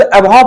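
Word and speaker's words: abhor: यहां पर ए बी एच ओ आर लिखा है। लेकिन यहां पर हम इसको अब नहीं पढ़ते हैं। बेटा ये शब्द अबव पढ़ा जाता है। आर को यहां पर साइलेंट रखा जाता है।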